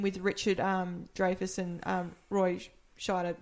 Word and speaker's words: Scheider: when Robert Shaw is working with Richard Dreyfuss and Roy Scheider, it's... Schneider? Is it? No, it's Scheid. Oh, I can't pronounce it. Schneider? No, there's no N. No N.